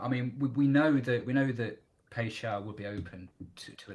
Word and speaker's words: Paixão: Is that I think I've pronounced it right? Yeah. It was Paixão.